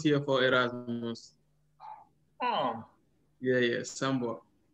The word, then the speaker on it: Sambor: It's like it's S-A M-B-O-R. Sambor.